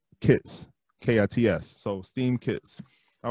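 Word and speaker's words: Kitx: So it's spelled K-I-T-X, but it's pronounced Kits, K-I-T-S.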